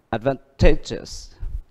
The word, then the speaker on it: advantageous: Câu B, đuôi yes, nó nhấn trước nó một âm nữa. À, vậy thì nó nhấn âm advantageous.